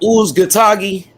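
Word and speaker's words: Uzcátegui: Yo, H-Money, how you pronounce that Latino? Oh, you talking about Uzgatagi?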